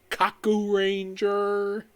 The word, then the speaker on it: Kakuranger: viewing the 19 Sentai ever released ninja Sentai Kaku Ranger which yes that is that is how the thing is pronounced which yes they pronounce it in the